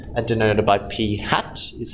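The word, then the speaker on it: p̂: over it denoted by P and denoted by P hat is how we pronounce it this means P hat P hat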